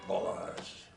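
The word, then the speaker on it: Balázs: It should be Balazs. Balazs. Like all Hungarian words, the accent is on the first syllable.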